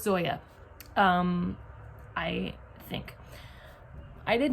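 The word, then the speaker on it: Zoje: I looked up how to pronounce it. I heard her say it. I'm pretty sure it's Zoya. In my October TBR, I said Zoe because I just thought maybe the J was silent.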